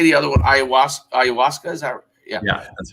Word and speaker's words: Ayahuasca: Ayahuasca, is that?